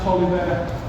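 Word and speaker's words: Taliaferro: It doesn't look like it should be pronounced Tolliver.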